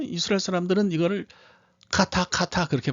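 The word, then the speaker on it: חטא: 이게 CH 사운드가 나요. 그래서 그냥 이스라엘에 갔더니 그 뭐 이스라엘 사람들은 이거를 카타 그렇게 발음하더라고요.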